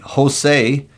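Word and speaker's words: Hosei: be something cool and Jose which sounds like a Hispanic guy but it's spelled h o s eii kajima kajima yep sounds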